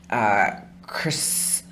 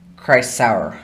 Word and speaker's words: Chrysaor: There was Chrysao. How do you say that? Chrysaor. I forget. I did not remember that I spelled that as an R.